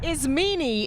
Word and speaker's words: Ismini: Ismini is the correct pronunciation.